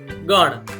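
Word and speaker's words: ગણ: Like how we have pronounced gana, same way gana.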